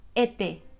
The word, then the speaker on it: été: Entonces, para decir verano en francés, decimos été. Sí. Été. ¿Puedes ver España? Été.